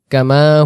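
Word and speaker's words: كما: কালিমা আমরা দেখব আমানতুবিল্লাহি কামা হুয়া আমানতুবিল্লাহি আমানতু এক আলিফ এখানে নিয়মে পড়তে হবে বিল্লাহি কামা মিমের জব আলিফ টান দেব কামা কামা শব্দের অর্থ হল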